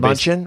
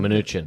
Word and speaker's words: Mnuchin: Munchin? Was Munchin? Or Mnuchin.